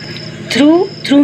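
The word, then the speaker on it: through: में P silent है, थ्रू में GH साइलेंट है, शुड में L साइलेंट है, बॉम में B साइलेंट है और नेव में K साइलेंट है.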